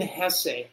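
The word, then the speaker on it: Hesse: do you say it Hess is that how you say his name yeah that's how the German say it but it looks like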